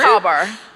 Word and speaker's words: cobber: So, Cabber. Mhm. We just don't pronounce the letter R. Very American. Cabber. It's a copper. Cobber. Can you use it in the sentence? Is that cheating? He's a good cobber.